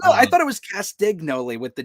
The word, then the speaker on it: Castagnoli: pronounce it correctly but i do believe it is castanoli i think like e is silent maybe i'm not sure i don't know i thought it was castignoli with the g maybe